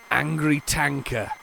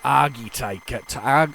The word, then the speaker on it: Argy Tanker: Angry Tanker. That's not how it's spelled angry, but Argy Tanker.